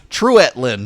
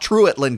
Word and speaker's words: Treutlen: not cahuita cow Ida same with treutlen treutlen County Truitt Linn no no it's not true at Linn County it's treutlen County I learned this moving